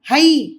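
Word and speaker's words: है: வாக்கியமும் ஹ என்று முடியும் இந்தஹ என்பதை ஹை என்று எழுதி இருக்கின்றோம் ஆனால் உச்சரிக்கும் பொழுது ஹ என்று சொல்ல வேண்டும் ஹ இந்த யஹ வஹ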